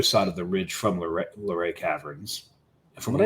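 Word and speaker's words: Luray: on the other side of the ridge from L Laray caverns and from what I understand they actually pronounce it lray there so that's we heard it pronounced that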